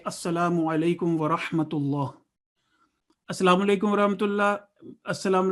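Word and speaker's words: ورحمة الله: Again, lam is lam jalala, it's Allah, and it would be a thick sound. Wa rahmatullah. And ha in the middle and ha at the end are two different sounds.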